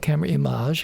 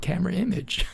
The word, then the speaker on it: Camerimage: I for years coming here was calling it CamerImage because it sounded good. That's right. Lots of people said that. It's very pretentious. And then I was at one point corrected, saying, actually, they call it CamerImage. Yes. The American influence. I was going with the French. It sounds so dramatic when it's CamerImage. Yeah.